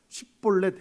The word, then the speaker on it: 십볼렛: 십볼렛 해봐라. 강하게 십볼렛 해봐라 했더니 그게 안 돼요. 에브라임 사람들은. 우리나라도 이게 쌍시옷 안 되는 지역이 있죠. 그런 것처럼이라는 거예요. 지역상 발음이 안 되는 것들이